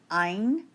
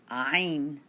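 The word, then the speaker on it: عين: On page 13, we're going to write the letters ein and rein. They're a little tough to pronounce. Ein and rein. Let's begin with the letter ein. It's way back in the back of the throat.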